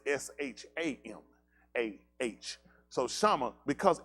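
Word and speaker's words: Shamah: I think it's S-A-M-A, but it's pronounced as S-H-A-M-A-H.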